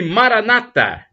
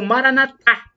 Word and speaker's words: Maranata: proverá Acredite Creia e Maranata como dizem os protestantes com a tônica na penúltima sílaba ou Maranata o dizer os católicos com a tônica na última sílaba significado é o mesmo